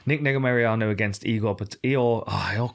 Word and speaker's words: Negumereanu: Now I'm gonna do a terrible name of pronouncing this guy's name. So we've got Negumereanu.